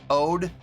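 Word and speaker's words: O.de: he's the one with the goggles O A pronounce like OD really OD what get rid of the period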